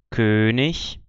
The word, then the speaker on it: König: com CH, esse som, mas quando a palavra termina em IG, no fim de sílaba ou fim de palavra, você vai ter esse sonzinho, o mesmo som do CH de ich.